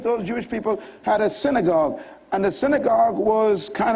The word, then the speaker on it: synagogue: The word synagogue is actually pronounced synagogue.